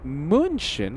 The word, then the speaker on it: München: Ulie says, "Pira, the German, uh, ch sound is pronounced like the Spanish X sound like that in Mexico." So, if you want to say munchin, yeah, think of the Spanish X.